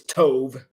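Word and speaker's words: טוב: Now, the word is, for what it's worth, is tov, rhymes with stove without the S.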